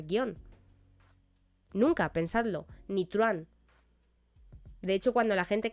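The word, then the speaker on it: truhán: Truán, guío, críe, etc. En truán, aunque tengamos un H en medio, recordemos que técnicamente no se pronuncia, por lo tanto tendríamos un diptongo, ¿vale?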